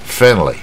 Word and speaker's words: friendly: 念的就没那个味道。friendly 啊，这个 d 几乎可